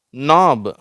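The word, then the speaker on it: knob: அடுத்தது நாப். இந்த K silent ஆகிடுச்சு, அதனால் இங்கே எதுவும் காணோம். இந்த நாப் அப்படிங்கிறோம். சரியா?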